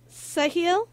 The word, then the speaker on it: Sahil: it again shahil fahil yes sahil like with an S sahil with the a a